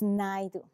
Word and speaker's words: Naydu: the name is like if you want to say it, I do, you just put an N before, and it's Naydu.